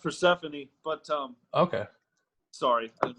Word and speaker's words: Persephone: It's pronounced Persephone, but Okay.